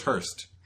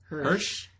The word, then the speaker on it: Hirsch: Hirsch or is Hurst? Hirsch. Yeah. Hirsch.